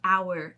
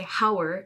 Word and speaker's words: hour: that so words like hour and honor you don't pronounce that h at all so you don't say hauer and hunner that sounds